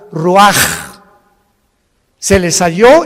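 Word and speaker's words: רוח: Ahora el versículo 29 del mismo capítulo, y exhaló Isaac el Roach. Así como suena, se pronuncia la CH en hebreo como J, Roach.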